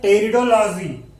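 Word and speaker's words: Pteridology: बात करते हैं टेरिडोलॉजी, जैसे दोस्तों अभी हमने पढ़ा था ब्रायोलॉजी, सेम उसी प्रकार टेरिडोलॉजी होता है, टी इसमें साइलेंट रहता है।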